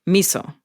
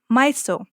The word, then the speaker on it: miso: You might know it as misoprostol, aka miso, like the soup. Or miso. There's no agreement on how to pronounce it.